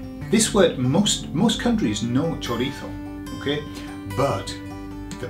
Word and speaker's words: chorizo: This word, most countries know chorizo, okay, but the pronunciation, oh man, it's so bad. Now I'm saying chorizo because I'm making the Z into a th, okay?